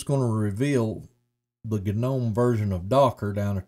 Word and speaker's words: GNOME: Oh, I hate saying that word, GNOME, but if you say gnome like a garden gnome, your nerd friends will freak out and tell you, oh no, it's pronounced a GNOME, as if that really makes a difference.